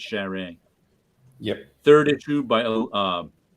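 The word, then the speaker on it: Charest: you say his name I would say Travis cherish but I think it's sharing yep third issue by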